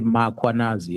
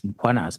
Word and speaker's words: Mkhwanazi: ask them to pronounce Mkhwanazi, they will put an A after M. Uh they will say Makhwanazi and there's no A. It's Mkhwanazi MKH.